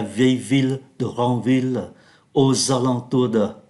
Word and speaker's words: alentours: Aux alentours de, ở đây chúng ta đọc là âm mũi này. Aux alentours, âm mũi, Mont Saint-Michel, âm mũi.